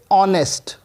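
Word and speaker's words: honest: जैसे की मैन लीजिए ऑनेस्ट ऑनेस्ट आपको पता है यहां पर ह हमेशा भी साइलेंट होता है तो हम इसको बोलते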